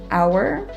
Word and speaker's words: hour: know in the comments h is often silent at the beginning of words for example the words honor and hour but then as an